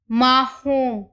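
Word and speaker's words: marrom: लारंजा लारंजा लारंजा means orange माहोम माहोम means brown सिंजा सिंजा सिंजा means grey मैं फिर से रिपीट कर रही हूं आज़ू वेरजी होजा लार रंजा माहोम एंड सिंजा ठीक है अभी मैंने आपको बताया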